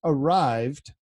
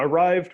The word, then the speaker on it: Arryved: and the spelling because it's pronounced arrived right and the spelling of